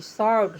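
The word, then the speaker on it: sword: से पहले डब्ल्यू रहेगा आर से पहले डब्ल्यू रहेगा तो साइलेंट रहेगा एग्जांपल में है डब्ल्यू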